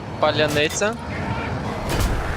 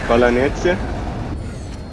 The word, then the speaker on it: паляниця: Can you say паляниця? Palanetse.